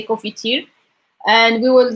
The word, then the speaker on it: confiture: We don't really pronounce the N. We just like most of Moroccans say confiture, and we will like